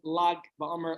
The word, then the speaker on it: Lag BaOmer: You have the Lamed and the Gimel, however you want to pronounce it. The traditional way is Lag BaOmer.